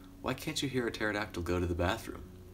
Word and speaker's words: pterodactyl: can't you hear a pterodactyl go to the bathroom because the P is silent okay let's keep coming